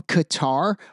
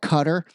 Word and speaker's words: Qatar: ago I was like, why do they pronounce it Qatar? It's a way to make it sound bad. Kind of like Iran and Iran. But I was totally wrong. Turns out it actually kind of is pronouncedqatar. So my bad, cutter.